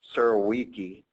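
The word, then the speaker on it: Surowiecki: Um and regarding wisdom of the crowd, there's a great book out there by James um whose last name is I believe pronounced siriki.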